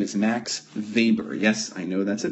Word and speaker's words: Weber: his name is max weber yes i know that's a w but he is german and so you pronounce w as a v right so here's max